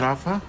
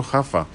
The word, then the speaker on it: Rafa: It's not Rafa? Yeah, you've been pronouncing it incorrectly all this time. Oh yes, because it's not Ronaldinho, it's Juanadinho. Yes, that's true. Okay, so Hafa.